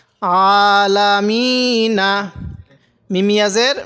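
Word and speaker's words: العالمين: হরফ হলো এই ইয়াটা মদের হরফ থাকলে সেখানে তিন আলিফ টান দিতে হবে তো এখানে আমরা তিন আলিফ টান দিব আলামিন এবার এখান থেকে আলহামদু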